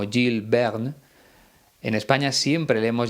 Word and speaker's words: Jules Verne: Como te decía en otra ocasión, creo que en francés se pronuncia algo así como Jules Verne.